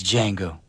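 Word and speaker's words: Django: commercial and he's like it's D Jango the D is silent okay remember that yeah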